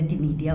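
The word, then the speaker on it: Ctenidia: Mollusca के अंदर टिनीडिया होते हैं, सी साइलेंट है इसमें।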